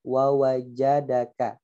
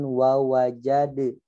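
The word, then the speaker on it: ووجد: Kemudian yang kedua fokus pada kata wawajadaka. Hati-hati daknya dibaca sebagaimana qalqalah ya. Jadi bacanya jangan wawajade gitu ya, bukan jade tapi apa?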